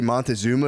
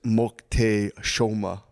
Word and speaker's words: Moctezuma: Apparently, the way you say Montezuma is Moctezuma. So if you hear anyone say Montezuma, say actually it's pronounced.